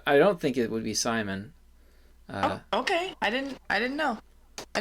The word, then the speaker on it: Simon: But the last name, Simon, in French, you'd say Simon, right? Not Simon. Okay. I didn't know. I don't really know either, but I don't think it would be Simon.